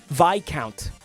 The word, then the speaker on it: Viscount: Count Viscount. Dude, it took 10 years, but I'm getting really good at not pronouncing that S.